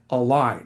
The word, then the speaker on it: Align: Today I'm joined by Patrick Sullivan, VP of strategy and innovation at Align. That's a-l mentioned to me. That's a silent G and a silent dash.